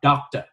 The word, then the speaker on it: doctor: Do đó chữ này chúng ta phải đọc là doctor.